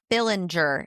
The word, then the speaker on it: Fillinger: Fillinger. Is that how you say it? Yes.